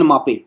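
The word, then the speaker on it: Mbappé: आपका केलियन मबापे, ठीक है, केलियन बी साइलेंट होता है, केलियन मापे फ्रांस के है।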